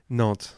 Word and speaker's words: Nantes: Nantes, which is just down south Brittany, Okay.